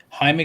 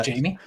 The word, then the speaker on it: Jaime: for inviting me uh jaime you can always also call me jamie it's okay terrible pronunciation my name is like one of the hardest to like for people to get right because uh like it just the j's in spanish confused everybody yeah um um hey